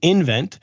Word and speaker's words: nVent: to move on to invent Electric which trades in the ticker nvt and the company is spells its name NV NT so it's it's pronounced invent uh it's projected to